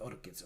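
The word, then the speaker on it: ORCID: with Orchid um with orchids or the the way to pronounce this is Orchid so that's what they say the company says so this is an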